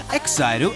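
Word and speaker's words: EXILE: Exairu, and that's the correct pronunciation incidentally, are just one of the many boy bands in this week's Top 40.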